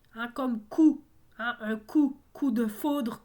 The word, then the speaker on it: coup: Loup, on ne prononce pas le P, hein, comme coup. Hein, un coup de foudre, coup de poing. coup de cœur. Hein? Alors, coup a un P muet également, donc loup également.